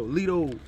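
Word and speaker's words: Lito: they call me Leto Leto l-i-t-o but T is pronounced with a d so Lido okay okay nice to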